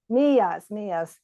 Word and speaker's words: millas: Millas, 4 millas. Yeah, it's a double L in Spanish instead of a single L.